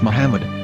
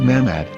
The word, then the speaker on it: Muhammad: yehuda's Hebrew English dictionary it is correctly pronounced as Muhammad not mmad so how we're going